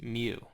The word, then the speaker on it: mu: symbol here is the lowercase m in Greek pronounced me one last and final note I just want